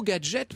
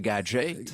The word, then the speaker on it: Gaget: dit-on par un fondeur qui s'appelait gager et prononcez gadgets comme les américains prononcé gadget c'est devenu effectivement bon